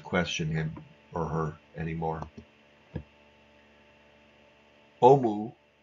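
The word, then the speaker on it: オウム: Omu, and that is how the Japanese would pronounce the name of the movement, Om Shinrikyo or Omu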